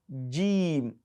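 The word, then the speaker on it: ج: letter g g g some people pronounce they pronounce y that is that sounds like y not so it is something in between and by saying not it is it is g g gim for instance don't say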